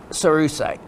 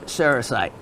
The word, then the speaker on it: cerussite: you sir okay so cerussite or serite depending on how you listen to it and where you place the the syllable um it belongs to